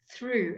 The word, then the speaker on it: through: Oh before they are it's through again the GH is not pronounced the th is not